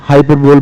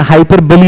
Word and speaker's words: hyperbole: है बड़े बड़े बोल, लेकिन हाइपरबली इसका प्रोनाउंसिएशन होता है। ओके, सो इसका सही जो प्रोनाउंसिएशन इट इज हाइपरबली। क्या बोलेंगे बाबू आप इसको बोलेंगे हाइपरबली बोलेंगे, हाइपरबोल नहीं बोलेंगे ना।